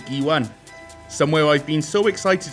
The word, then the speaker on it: Guiuan: Guiuan.